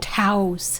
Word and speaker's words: Taos: Well, Taos doesn't have 2 syllables in it. That's why. It's Taos, single syllable. Taos. Not Taos.